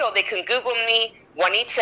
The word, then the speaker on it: Juanita: bonnie head juanita it's not a w it's j it's a spanish name people love to tell me how to pronounce my own name in spanish j-u-a-n-i-t-a like anita but ju at the beginning juanita google me